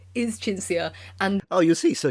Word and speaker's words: Cinzia: Yes, my name is Cinzia, and...